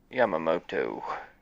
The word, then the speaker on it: Yamamoto: Yamamoto. Yeah. Fuck, I butchered the hell out of that.